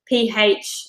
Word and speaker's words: phthalates: So one of the most common ingredients that comes up that's a real problem is something called phthalates, Phthalates, pronounced phthalates.